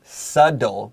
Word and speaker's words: subtle: Be careful of the word subtle. We have BT, but Tim will find subtle. It sounds like a D.